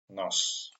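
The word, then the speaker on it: нос: In English, it could be like S or K, but in Russian is always like S, so it would be nos. Nos.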